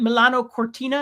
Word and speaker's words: Milano Cortina: Uh, is that Milano Cortina?